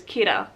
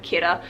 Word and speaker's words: Kira: this person a name which is kira derived from the english word killer but japanese pronunciation kira people are starting to